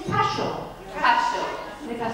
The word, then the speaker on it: Cashel: Cashel. I think I say it right. Rock of Cashel, cash, as in money, cash.